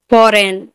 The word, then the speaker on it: foreign: फॉरेन, FOREIGN, फॉरेन, एन से पहले जी है तो यहाँ पर भी जी साइलेंट है।